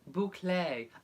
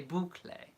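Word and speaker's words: bouclé: Robert Reaves says the fabric is called buco pronounced boucle oh there you go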